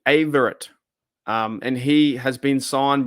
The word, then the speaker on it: Averett: How do I pronounce his name? Not Avery, is it? No. Anthony, not Avery. So Anthony Averett.